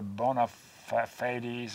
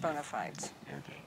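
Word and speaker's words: bona fides: get after it sometimes how do you say your bonafides The Bona FES or whatever Bona Bona FES is what I often hear yeah you got here we call them bonafides yeah uh okay so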